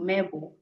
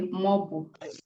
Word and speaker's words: mobo: So you can notice that instead of saying MEBU, mebo, we now use MOBU, most words change forms so that it will be easier for people to pronounce them, as in this case. So if you say mebo as a beginner, you're still correct, but more fluent speakers say mobo.